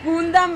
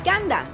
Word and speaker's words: Gundam: We love Gundam in this house. How do you say it? like Gandam. It's Gandam. It's because in Spanish is with U.